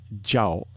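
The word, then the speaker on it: 叫: means to scream but in Chinese when it's pronounced jao it means to be called so in other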